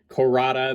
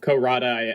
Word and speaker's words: Cohrada: a similar sound but corada makes just way more sense since he turns into a cobra here um but yeah you know ko rada i think is is the intended pronunciation and uh yeah he